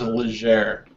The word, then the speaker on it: Legere: I think it's Legere.